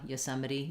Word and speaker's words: Yosemite: but yo yosemite um yeah yosemite you can really reduce that first syllable as well um great good question